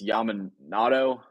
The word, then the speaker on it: Yamamoto: Before I embarrass myself and say his name wrong, it's Yamamoto. Yeah, I struggle with this still too. Yamamoto. Yeah. Okay, Yamamoto.